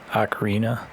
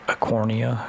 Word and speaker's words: Ocarina: though back then I didn't know how to pronounce Ocarina. I thought it was like Acornia or something like that.